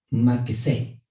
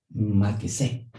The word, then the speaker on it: Machesé: Se escribe Machesé y se pronuncia Maquesé. Maquesé, que es una palabra hebrea.